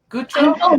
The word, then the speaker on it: Gutro: So it's a massacred French name. Guthro. Did I say it right? Guthro. Guthro. Guthro.